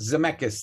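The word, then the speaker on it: Zemeckis: Uh, I think it's Robert Zmechus, I think, is how it's Zcchus. Zamechus. That's it. That's right. Here's how this is pronounced.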